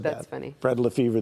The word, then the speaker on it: Lefebvre: Fred Lefebvre, the B is silent, but I don't have to be.